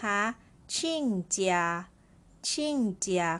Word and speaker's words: 亲家: กัน ต่อ นะ คะ ชิ่งเจีย คำ นี้ ออก เสียง ชิ่ง นะ คะ ตัว อักษร นี้ อ่าน ได้ ทั้ง ชิ้น แล้ว ก็ ชิ่ง นะ คะ ใน ที่ นี้